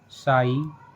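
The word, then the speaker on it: sigh: जैसे हाई, साई, Thai. इन सभी words में वर्ड के लास्ट में जी एच आया है और जी एच को हमने नहीं पढ़ा है।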